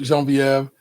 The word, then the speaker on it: Genevieve: I love Genevieve, but you have to pronounce it with a Frenchiation. Jean Viev in my family. I absolutely love Jean Viev.